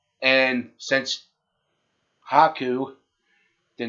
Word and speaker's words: Haku: And they turned back because, what was it, Lukaku? You mean Haku? Haku. Sorry, folks, for the pronunciation.